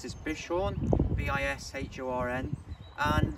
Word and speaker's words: Bishorn: I think you pronounce this Bishorn, B-I-S-H-O-R-N.